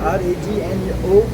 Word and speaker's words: Ragno: Okay, By the way, Stefano is playing with the band Ragno. Okay, cool. It's pronounced R-A-G-N-O, it's in Italian word, Ragno.